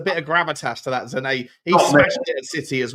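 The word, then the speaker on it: Sané: Apparently, Sane Bayern Munich have offered Leroy Sane to or Zane apparently. I've been saying his name wrong for a year.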